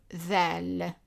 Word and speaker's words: ظ: And the pronunciation is like a th, like dhal, but in the back of the mouth. So it's like when you pronounce that, but instead of pronouncing the vowel e, you pronounce it o. So it's that, that's the